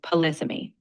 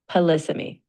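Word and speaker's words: polysemy: You pronounce it as polyammy. The emphasis is on the second syllable. Polysmy.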